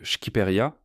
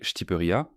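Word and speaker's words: Shqipëria: L'Albanie connue sous le nom de Schkiperia, enfin prononcé Shtiperia Keko ou le pays des aigles, porte en elle une profonde fierté culturelle et une riche en histoire.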